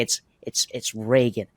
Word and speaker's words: Reagan: My favorite part is when Rochford gets Mike Reagan's last name wrong calls him within Regan? seconds. Regan, He yeah. spent literal the first 20 minutes. I was like, okay, it's Reagan.